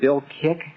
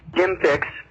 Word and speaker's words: Jim Fixx: jogging came up, and was it Bill Kick? Jim Fixx. Fixx, okay. You're close. Jim Fixx, spelled with two X's, F-I-X-X.